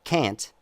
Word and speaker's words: can't: between cat, C-A-T, and can't, C-A-N, apostrophe T, but you don't pronounce the N, right?